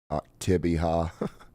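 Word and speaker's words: Oktibbeha: Yeah, I think even locals pronounce it differently. Some people pronounce it Octibiha. Some people pronounce it another way.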